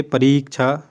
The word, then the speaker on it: परीक्षा: परिधन इच्छा, परीक्षा, इसका उच्चारण भी शुद्ध करेंगे, परीक्षा, पूरा परीक्षा देने जा रहा हूँ, मतलब कि हमारे परि माने चारों ओर, इच्छा माने देखना, ठीक है।